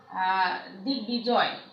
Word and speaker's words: দিগ্বিজয়: অনুরূপভাবে দিগ্বিজয়, দিগ্বিজয়।